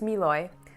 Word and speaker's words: Mlouye: company right here and for those of you who don't know how to pronounce it it's miloy so without further ado